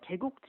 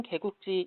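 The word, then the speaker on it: 게국지: 맛있다면 성애를 현재 저는 개 국지 이렇게 안 부른다고 하더라구요 맞아요 표준으로 는 게 국지 인데요 이렇게 바람에 안되고요 30분 드 깨끗이 라고 발음을 하세요 애꾸 길에 서산 태안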